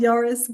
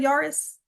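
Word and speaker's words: Yaris: So, I think it's pronounced Yurus, but um Yari rhymes better with Ferrari. But have you ever heard of a Toyota? Yurus is like their most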